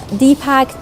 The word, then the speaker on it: DIPACT: I formed a group called DIPACT, and DIPACT is pronounced as DIPACT, but it stands for Digital or Diverse Innovative Platform for Arts and Communities and Theatre.